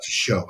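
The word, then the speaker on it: chiot: Like one of the things I said one time, there's um a puppy is called a show and it's spelled C H I O T E, but it's show.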